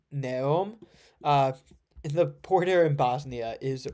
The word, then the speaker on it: Neum: Neum, is that how it's pronounced? Neum.